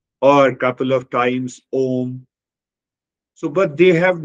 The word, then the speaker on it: Om: One explanation is that Om represents, Om has three syllables. The first syllable, A, represents the waking state, U represents the dream state, and Ma represents the sleep state, and all the three